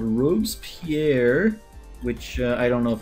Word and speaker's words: Robespierre: So for our male parasaur, our new Fossils and Archaeology male parasaur, this one is going to be called Robespierre, which I don't know if I'm saying that right.